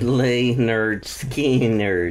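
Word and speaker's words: Lynyrd Skynyrd: are turning 50 uh and this is uh Leonard skinnard debut album and it's actually called pronounced lay nerd SK skin nerd Le nerd skin nerd yeah was released on August 13th mhm where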